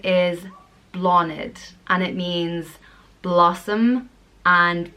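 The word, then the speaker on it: Bláthnaid: how Sinead is pronounced the next name is blonde it and it means blossom and flower it's pronounced law NIT blonde it it's spelt BL a th naid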